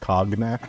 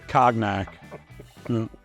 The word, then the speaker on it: cognac: I believe it's pronounced cognac. It's cognac.